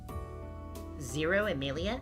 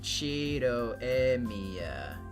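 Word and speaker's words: Shirou Emiya: Zero Emilia? That's a weird name. No, that's wrong. It doesn't sound like Western names. You pronounce it Chido Emiya.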